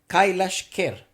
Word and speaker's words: Kailash Kher: this is i just wrote down how to pronounce it kailash kerr um i think that's not too far and